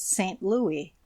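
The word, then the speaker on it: St. Louis: the citizens give it the old French pronunciation that is St Louis the final s not being sounded it should be so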